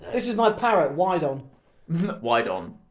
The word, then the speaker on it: Wydon: This is my parrot, Wydon. Wydon. Yeah, but it's spelled like WYDON. Yeah. And obviously Wydon is a term for horny women having a wide on.